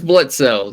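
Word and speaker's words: Blitzø: you guys are ready the name's blitzo the O is silent yeah like that like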